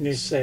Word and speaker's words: Nisei: Is the word Nisei, or how do you say it? That means the second generation in Japanese. Yeah, I know. Did I say it right? Nisei? Yeah, it's pronounced Nisei.